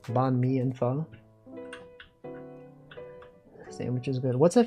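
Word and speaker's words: pho: Um and then you know the classic the classic fo. You might say fo. It's actually pronounced f. Some people don't know this.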